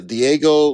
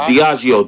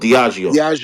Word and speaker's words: Diageo: The Combs Enterprise with the Diego Liquor, so the It's Ciroc. Diageo. Diageo.